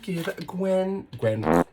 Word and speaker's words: GXVE: I thought I would give Give by Gwen Stefani a go. Fun little facts about the brand. It's spelled GXVE because when Gwen signs her name, she does GX.